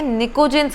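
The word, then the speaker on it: pnictogens: Group 15 के elements, और group 15 के एलिमेंट्स जाने जाते हैं निकोजेंस के नाम से। PNI, याद रखिए P साइलेंट होता है।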